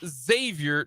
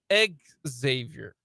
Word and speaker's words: Xavier: I was correct um so it is Xavier not egg Xavier but if you are